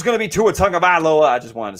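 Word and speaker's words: Tagovailoa: i can't yeah it's you say basically the word tongue and then talk about lola i'll work on it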